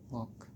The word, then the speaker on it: walk: For example, वॉक, WALK, बट we pronounce वॉक.